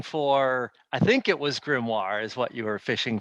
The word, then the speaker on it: grimoire: speak uh speech chris you used the word grumar i think you pronounced it gizmo and we're fishing for i think it was grimoire is what you were fishing for and since